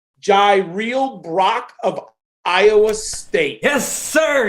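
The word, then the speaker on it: Jirehl Brock: I might be pronouncing his name wrong. Jaireel Brock of Iowa State.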